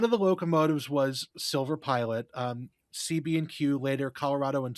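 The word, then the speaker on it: Pielet: at what was it Plet Brothers Scrapyard. Yeah, it was it's it's I weirdly it's actually pronounced Pilot. So Silver Pilot went to Pilot Bros Scrapyard. Pilot Brothers Scrapyard which scrapped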